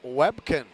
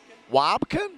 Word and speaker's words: Wobkin: That was Zach Webkin. Wobkin? That's how they pronounce it.